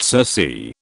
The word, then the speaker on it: Circe: Kirk comes from the Roman word cirque and cirque comes from the Greek mother Circe, pronounced Circe, a sorceress who would tempt men into her house, turn them into pigs and eat them.